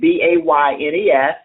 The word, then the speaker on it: Baynes: The author is Robert Baynes, and I am pronouncing that correctly, right? Yes. Okay, Baynes.